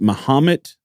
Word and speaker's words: Mahomet: And I believe it's pronounced Mahomet, Illinois.